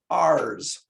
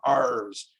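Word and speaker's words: ares: abbreviation isn't a but it's pronounced ours so it's sort of a piratey name ours so it it's abbreviated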